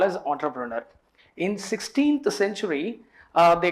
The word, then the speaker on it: entrepreneur: Why we are calling entrepreneur? The reason beyond this is because it is a French word.